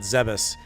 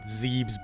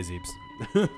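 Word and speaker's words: Zebes: know in the planet zebus I've heard people pronounce it zebbs before if you can if you can believe that that's a pretty wild one yeah yeah I say zebs because six the first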